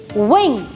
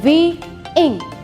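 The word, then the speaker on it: wing: विंग, विंग, आई एम नॉट सेइंग वी इंग, तो 2 sound हो जाएंगे और 2 syllables होंगे, but this is अ सिंगल syllable word, so वी pronounce it विंग।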